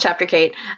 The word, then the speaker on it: Chapter Kate: There's a Roman numeral joke in there somewhere, but it's pronounced Chapter Kate.